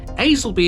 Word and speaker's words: Aslackby: Y Y Y Y which you might think is ALACb. It's not ALB. We speak a funny old language out here in Lincolnshire. This is Aelby and Lorton.